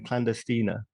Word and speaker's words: Clandestina: So tell me about your comedy night then, Clandestina. I'm glad you can pronounce it properly.